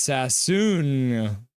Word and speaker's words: Sasson: It's pronounced Sassoon.